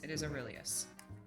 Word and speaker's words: Aurelius: How was her name pronounced again? Aurelius? You can just call her Ari. But it is Aurelius.